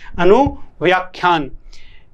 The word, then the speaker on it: अनुव्याख्यान: अनुव्याख्यान या व्याख्यान लिखा है, लेकिन सही प्रोनाउंसिएशन है अनुव्याख्यान।